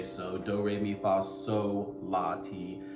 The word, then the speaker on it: sol: It's actually pronounced sol, S-O-L. And the reason for the confusion is because right after sol is the syllable la. So when you say sol, la, that L in sol sometimes gets lost in translation and it sounds like so, la.